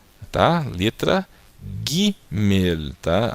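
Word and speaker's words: גימל: Aqui é a letra Gimel, tá? Letra Gimel, tá? A letra Gimel tem o som do G, como na palavra gato. Agora, a letra Gimel, ela sempre vai ter esse som de Gá, Gé, Gui, Gó, Gu.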